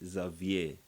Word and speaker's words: Xavier: There's a French pronunciation. Yes, the French say Xavier.